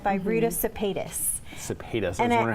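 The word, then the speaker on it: Sepetys: Cepetis. I was wondering how we pronounce it.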